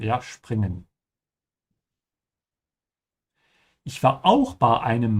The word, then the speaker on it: springen: Make sure you pronounce springen with a sch sound. Because whenever the s comes before a p, it becomes a sch sound. Ja, springen.